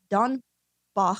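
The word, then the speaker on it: Dornbach: And then according to court records, Young also attended Don Bach, I believe he was a German guy, so that's how you pronounce it, Don Bach Nutrition University,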